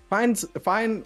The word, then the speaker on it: Fine: Fine rhymes with Pine, and we all know who Pine is, so I'm pretty excited to see how this goes.